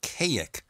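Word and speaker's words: Kazik: supposedly ETs from a planet called Kayik with a silent Z.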